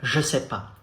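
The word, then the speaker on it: je sais pas: but it's very formal because in spoken french every day speaking french you skip the no part the negative part it goes like joseph joseph how do you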